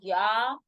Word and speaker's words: ja: So this is not ja. This is ya 9.